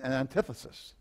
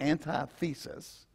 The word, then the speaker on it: antithesis: there's a thesis and an antithesis and an antithesis the thesis is that the thief steals kills and destroys the antithesis or the anti-thesis opposite so it's pronounced antithesis because you know